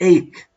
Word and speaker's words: ache: it is a so this word sounds like ache okay so it is ache ache so I mean phonetic symbols are very important for you as a new learner or your own system okay egg like make so this is you can write a word which sounds the same okay which sounds the same okay so ache like make okay part of speech